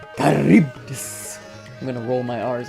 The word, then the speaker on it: Charybdis: Oh, how did you pronounce this dog, man? So Charybdis. lovely. Charybdis. Charybdis.